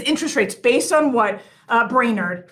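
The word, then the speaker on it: Brainard: Because interest rates, based on what Brainerd, and that's how you say her name. I said Bernard earlier.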